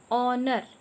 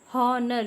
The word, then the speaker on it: honor: Honor. O. Honor. Honor. We are not spell like honor. We pronounce the word honor. H is silent over here.